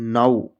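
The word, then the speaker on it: now: इस वर्ड में ओ डब्ल्यू को औ से पढ़ते हैं। ओ से नहीं पढ़ते हैं।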